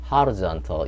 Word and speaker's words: horizontal: 여기가 제2강제인데, 이게 호는 사전에서는 그 턱이 더 밑으로 떨어지면 아에 가까워서 horizontal 이렇게 되는 발음도 여기 A로 표시된 그 발음기호를 한 사전도 있을 겁니다. 어쨌거나 여기가 제2강세, 제1강세 여기 horizontal입니다.